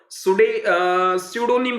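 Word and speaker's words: pseudonym: और जो थर्ड है इसका पी साइलेंट रहेगा, स्यूडोनिम बोला जाता है।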